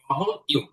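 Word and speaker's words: W: ভি এরপরে হচ্ছে আমরা পড়েছি ডাব্লিউ, এটা ডাব্লিউ না, এটা হচ্ছে ডবল ইউ, ডবল ইউ। যদিও দেখতে ডাবল ভিউ এর মতন, মানে ভির মতন, কিন্তু এটা ডাবল ইউ, ডবল ইউ হবে এটা।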